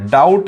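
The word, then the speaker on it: doubt: coding nine होती है लेकिन यहां पर बी साइलेंट है डाउट में डी और टी आता है डाउट बी साइलेंट है तो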